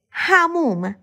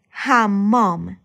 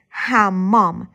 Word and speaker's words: حمام: حموم. Or better to say, حمام. This word is a noun and translates to bathroom. The main pronunciation is hammam, but it might change to hamum in conversational speech.